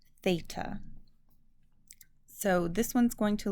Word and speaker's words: theta: It's going to be a 0 with a line through it, and it'll be pronounced theta.